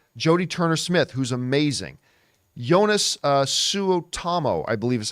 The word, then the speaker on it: Suotamo: Jonas Suotamo, I believe is how you say his name.